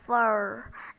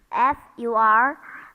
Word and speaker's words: fur: in all the cases the r is unpronounced because the r comes before a consonant okay a Conant sound or it comes at the end of a word like fur F Ur fur Okay so start